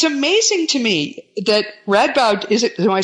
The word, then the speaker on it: Radboud: did with that it's amazing to me that Radboud is it am I saying it right read bad University that's right which is a very prestigious